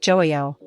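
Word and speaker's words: 좋아요: The j in is a soft j sound, similar to the j in jeep, not a harsh ch sound. There's often silent, making it sound more like joayo.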